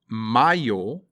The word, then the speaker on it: mayo: Mayo is May, not mayo, which is something that goes on a sandwich.